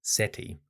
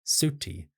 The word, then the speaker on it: Seti: actually find the name Seti. The name Seti derives from the god Sutek or Seth. It can be pronounced in different ways like seti si or even suti depending on how it is spelled.